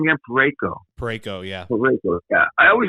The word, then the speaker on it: Parayko: Parayko, Shen, Binnington.